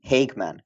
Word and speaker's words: Hageman: Today, I'm sitting together with IFBB bikini pro Corey Hagman.